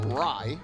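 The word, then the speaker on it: Rei: r e r-e-i so initially i thought it was pronounced austin ray but it's actually pronounced rye so now the question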